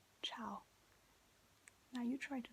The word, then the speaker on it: ciao: you say hi ciao so it's we're gonna spell it right here and then show it to you so it's like c i a o ciao now you try to say it ciao and